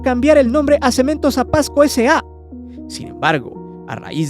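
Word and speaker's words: Apaxco: mexicana de cemento Portland Apasco sí Quizá no se entienda bien pero Apasco es un pueblo en el Estado de Hidalgo y se escribe con x y que durante muchos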